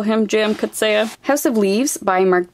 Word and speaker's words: Coetzee: And if you want to correct me on my pronunciation, that's cool, but I had a university professor call him J.M. Coetzee, so I'm gonna call him J.M. Coetzee.